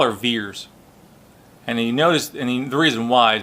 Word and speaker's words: Vers: left the ve RS so they pronounce it veers you know we see